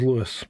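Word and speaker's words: Lewes: Lewis, even though it's not spelled that right.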